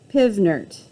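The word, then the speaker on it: PV = nRT: refer to it as pivnert pivnert yeah it's silly because that's how it would be that's how it would sound phonetically but all right when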